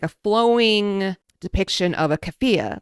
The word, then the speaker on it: keffiyeh: Okay, so there's one car that's a Cybertruck with I've never figured out how to pronounce it. It's keffiyeh.